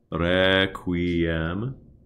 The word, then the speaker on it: Requiem: Also, please give a gentle flip to all of the R's. Requiem. Requiem, anywhere you have that, and sempiternam, as opposed to requiem or sempiternam. That's it.